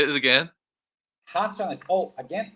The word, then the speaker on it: Racionais: I'm saying that wrong, probably, but we Racionais. did. Say it again. Racionais. Oh, again, Ashnae's. other tip for you about pronunciation in Portuguese. The letter R in the front It's H, right? is H. Yes.